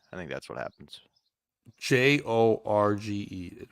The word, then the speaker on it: Jorge: that could be it too but why he's Jorge I I don't understand how that happened sometimes Spanish people mispronounce George I think that's what happens j o r g e right that's always Jorge right yeah yeah no